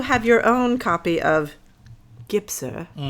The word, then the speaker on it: Gypser: Gibser. Gibser. How do you say it? Gibser. Gibser. Gibser.